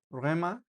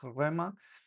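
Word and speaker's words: ῥῆμα: Por ejemplo, aquí rema rema. eh se pronuncia así, ¿verdad? Eh, como una y como tiene un acento un espíritu rudo, aquí uno le da como un poquito más de énfasis rema, eh, pero si no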